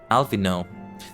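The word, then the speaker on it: Alphinaud: Alfino? I've been saying it wrong? What? Alfino. Yeah. I mean, he's the grandson of Louis Soin. Makes sense that it's more French like that. Alice I think is correct. Alfino. I'm gonna try to stop pronouncing that D at the end then.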